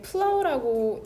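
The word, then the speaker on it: plough: 기준 시점을 찾으면은 왜 이 시제를 썼는지를 더 이해하기가 용이할 테고, 그 다음에 이게 플라우라고 읽는데 이렇게 쓰기도 하거든. 스펠링이 두 개인데 쟁기로 갈다라는 뜻이죠. 플라우.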